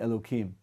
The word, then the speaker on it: Elohim: You're familiar with the kind of custom to, rather than pronounce God's name Elohim, we say Elokim, in order to avoid saying God's name unnecessarily.